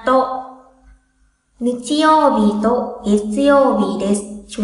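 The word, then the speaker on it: と: Nichiyōbi to, nhớ chữ to phát âm như vậy nha, to.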